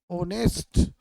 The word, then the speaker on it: honest: तो बट हम देख रहे हैं कि HONEST ऑनेस्ट का एच यहाँ पे साइलेंट है। साइलेंट होने के कारण हम उच्चारण करते हैं ऑनेस्ट।